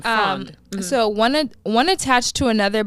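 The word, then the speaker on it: frēond: That's the old pronunciation, frond.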